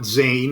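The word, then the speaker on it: zayin: to finish up with uh zion today you can call it zayn if you want excuse me while i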